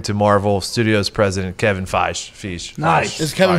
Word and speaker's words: Feige: It's spelled like beige.